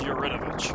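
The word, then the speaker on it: Yaridovich: This is Yuridovich, or Yuridovic, depending on how you want to pronounce it.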